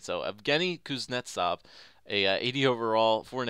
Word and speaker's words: Evgeny Kuznetsov: and i still can't say it right so evgeny kuznetsov a 80 overall four and a half red